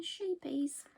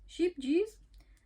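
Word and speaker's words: Scheepjes: bit of Googling and how to pronounce escapiers I've been saying sheepies forever it's like sheepies sheep juice apparently I think they should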